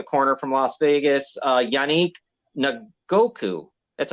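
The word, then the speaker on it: Yannick Ngakoue: there the the corner from Las Vegas uh yanique Goku that's how you say his name from Indy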